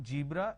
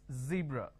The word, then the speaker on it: zebra: Now what people make a mistake is they replace the z with a j. So what they do is they pronounce this as zebra, John, Jeel. So please don't make a mistake. The moment you replace the z with a j, it's a mispronunciation.